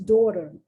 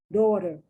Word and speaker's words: daughter: doctor no it's a daughter daughter and then gh is there you better know it's there but it's completely silent if you didn't know